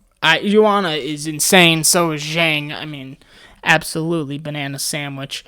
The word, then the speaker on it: Zhang: Joanna is insane, so is Zhang. I mean, absolutely banana sandwich. Wow, look at you pronouncing the last name correctly.